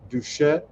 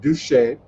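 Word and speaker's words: Doucette: will also be featuring big chief alfred duchette he's a long lifelong new orleanian and a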